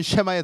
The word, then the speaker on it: 샤마: 샤마 발음은 쉐마에 더 가깝습니다. 그래서 우리가 이 들으라 이스라엘 할 때 이 쉐마예요.